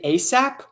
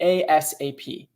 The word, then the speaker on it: ASAP: ASAP oh another thing people in in the US say ASAP or they spell it out and say ASAP okay ASAP ASAP ASAP